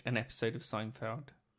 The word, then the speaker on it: Seinfeld: some reason it's called Seinfeld yes but I often will pronounce it zeinfeld because I speak a bit of German how can I design